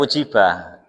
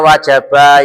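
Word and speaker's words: وجب: Bang ada dan kalau wajaba itu Non wajab bukan wujibah. Alasannya apa? Kok wis yakin ngih? Karena wajaba adalah lazim.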